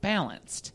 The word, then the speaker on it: BLNCD: And I am here with the founder and the co-founder of a company called Balanced. And I'm going to spell it for you because it's BLNCD. The vowels are taken out.